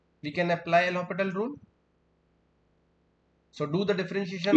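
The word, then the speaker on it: L'Hôpital: So it is pronounced like L'Hopital, not L hospital.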